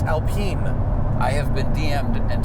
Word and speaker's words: Alpine: if I think a-l-p-i-n-a the German BMW tuner is Alpena and I think the French Alpine a-l-p-i-n-e I mean I'm if I'm wrong I'm wrong but I'm I'm pretty sure it's Alpine a pronunciation check yeah I